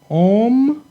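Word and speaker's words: עומדים: Omdim. Omdim. And as you can see, this Sheva is silent.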